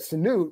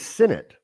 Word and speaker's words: Sinnott: But I think that Sanute, when you watch him block Bram, he's going to help the run game too.